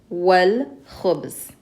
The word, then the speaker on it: والخبز: Now if this here had an alif lam, we would have pronounced it with the shadda on the dal because dal is a sun letter. So we would have said هي تحب الدجاج. And if there was an alif lam here, we would say والخبز because the kha is a moon letter. So we pronounce the lam.